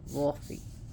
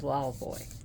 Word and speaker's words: Laufey: the goddess wow boy she's also called Wolfie but uh pronunciation is Wild Boy anyways wow boy who